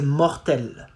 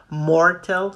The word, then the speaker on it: mortel: It goes like c'est mortel. Mortel. Not mortal, not mortel. Mort. R. It comes from the throat, right?